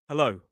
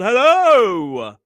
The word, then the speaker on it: hello: That final vowel of hello isn't bouncy. It's not dramatic. It's not hello. It's smooth. It glides. It starts soft and it moves forward.